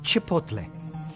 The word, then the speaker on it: Chipotle: It's pronounced Chipotle.